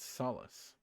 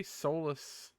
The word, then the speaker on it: Solus: as the Empire uh I feel like it's pronounced Solace but maybe soless is allowed I'm Googling pronunciation of Solus uh Solace Solace and American pronunciation Solace Solace it's definitely just Solace but make no mistake this